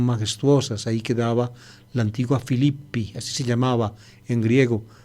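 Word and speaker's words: Φίλιπποι: En griego el plural, en la forma de sujeto, es en i, Filipoi, se escribe Filipoi, se pronuncia Filippi.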